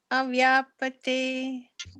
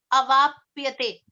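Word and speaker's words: avāpyate: Deva adhir avyapate. It's avapyate. Avyapate. No, avapyate.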